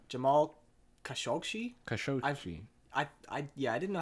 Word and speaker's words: Khashoggi: Khashoggi. I didn't know how to pronounce it. I think I've heard it on podcasts before, and that's what they say, Khashoggi.